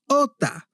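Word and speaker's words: jota: In Spanish, J is pronounced "hota" or "hota" actually.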